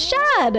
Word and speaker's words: Shad: Oh, his name is Shad. I was right. It is a one syllable name. Nothing near Nell at all.